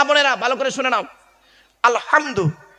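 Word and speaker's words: الحمد: না বাবা বলুন না আলহামদু গলার ভেতর থেকে হে এটা উচ্চারণ করবেন এই মা বোনেরা মা বোনেরা শুনছেন এই মা বোনেরা ভালো করে শুনে নাও আলহামদু গলার ভেতর থেকে হে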